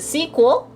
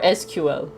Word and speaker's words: SQL: people are having arguments whether it's pronounced the sequel or sql so just wanted to see how other people pronounce it it both works guys so don't get